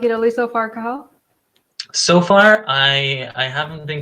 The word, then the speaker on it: Cathal: So my name is Cathal.